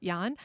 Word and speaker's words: Jan: I've just I've met so many people recently whose name is spelled like that and it's actually it's it's actually pronounced Yan.